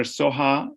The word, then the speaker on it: Soha: Dr. Soha is S-O-H-A. It ends with an A. And I apologize for that, Mike Ellis, because you pronounce it the way it was written.